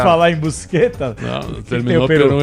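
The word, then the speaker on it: Buscetta: O Tomas Busqueta, mafioso tava no Brasil também.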